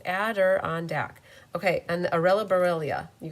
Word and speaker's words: Adirondack: I can say ambulance Adirondack Adirondack it's like four syllables Adder on Deck okay and arella borrelia